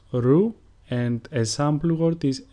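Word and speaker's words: Ρο: Ro, which is pronounced ru, and a sample word is ρύζι, which means rice.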